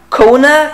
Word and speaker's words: Kona: Kona? Kona. Ich glaube, so spricht man ihn aus.